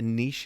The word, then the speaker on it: niche: think about uh uh we would pronounce it probably Niche nich Niche is perfectly correct but uh I double checked it's a British American thing oh is that right